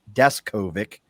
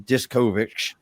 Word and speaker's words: Deskovic: him one thing and now I know it's descovic and I used to call him discovic and all kinds of